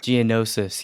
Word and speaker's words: Geonosis: was it how do i pronounce the enosis geonosis yes during uh the rise of the clone